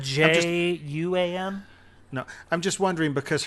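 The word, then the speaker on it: Wan: I think it's spelled J-U-A-N.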